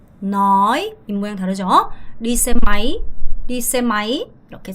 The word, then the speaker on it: máy: 여러분 이거 máy 아니고 máy 아가 짧고 y의 강세. máy đi xe máy 이렇게 발음하셔야 돼요.